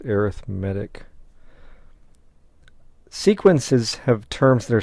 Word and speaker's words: arithmetic: yeah it looks like arithmetic but it's being used as an adjective and when it is so used it is pronounced arithmetic sequences have terms that